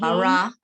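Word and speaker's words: ברא: Bara. No, it's bara. This is bara. That's an aleph at the end.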